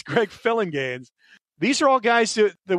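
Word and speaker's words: Phillinganes: famous session keyboardist and it's pronounced like it looks Greg philingames I've always seen that name and wondered is it filling games it's great filling gains these are all guys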